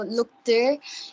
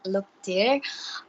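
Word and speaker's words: luktir: written as l-u-k-t-i-r and normally anyone would pronounce it like look tear or something like that something along those lines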